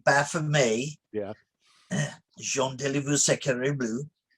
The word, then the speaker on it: Baphomet: before me yes uh baphomet is what americans say it's really baff of me yeah jean de liver